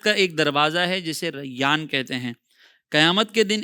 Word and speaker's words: ریان: نام کو رکھتے ہیں، اور وہ نام ہے ریان۔ ریان، اس کی انگلش اسپیلنگ اگر ہم دیکھیں تو RAYYAN، ریان۔ اس